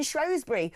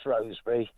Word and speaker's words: Shrewsbury: So originally it was Shrewsbury, but when they, excuse the expression, bastardised the name into Shrewsbury, a lot of people now call it Shrewsbury because it's spelled S-H-R-E-W instead of S-H-R-O-E-S.